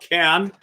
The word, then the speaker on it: Cean: Good This is a song that was written by a group called Can. That's spelled Cean if you want to look them up.